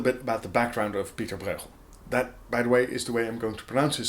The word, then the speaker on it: Pieter Bruegel: about the background of Peterborough that by the way is the way I'm going to pronounce his name because that is the Dutch Flemish way of pronouncing it which let's be honest